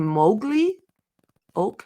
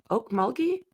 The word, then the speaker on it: Okmulgee: months after four here we go oak okay Mowgli Oak mug Mulkey Okmulgee man bodies were found shot dismembered and dumped